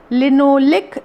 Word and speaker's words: linoleic: लिनोलिक acid और लिनोलेनिक acid. थोड़ा spelling mistake है, आप इसे देखो, मैं जो बोल रही हूँ उच्चारण के ऊपर ध्यान दीजिए।